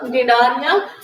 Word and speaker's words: Cnidaria: We have to pronounce it as a Cnidaria. It's beginning with a C, right?